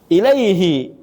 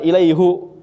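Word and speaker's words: إليه: Ya ilaihi bukan ilaihu tapi kalau yang sebelumnya enggak kasrah atau enggak ya sukun dibacanya hu.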